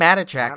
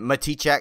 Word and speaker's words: Matichak: I think Matichak is the way to go. I mean, I don't see other ways it could be, really. Matichak. I mean, Matichak. I mean, it's more the emphasis on the syllable is where we change it, I think.